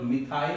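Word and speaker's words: methyl: मेथिल group, मिथाइल भी pronounce करते हैं, मेथिल भी कहते हैं।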